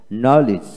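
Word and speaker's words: knowledge: লক্ষ্য করুন, ওয়ার্ড এর মধ্যে ডি জে বা ডিজি পাশাপাশি থাকলে ডির উচ্চারণ হয় না।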